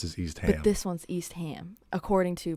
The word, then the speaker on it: Eastham: ham at the end but this one it said that you do say ham at the end so it'd be like